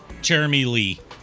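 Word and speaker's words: Cherami Leigh: I was talking uh and her name is pronounced Jeremy Jeremy Jeremy Lee okay continue with your story I'm sorry uh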